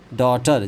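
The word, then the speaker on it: daughter: डॉग डॉग ना डॉटर जी H silent है।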